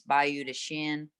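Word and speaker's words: Bayou de Chien: That's how the locals say it. It's Bayou de Shin, Creek of the Dog.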